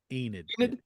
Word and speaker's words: Enid: Enid.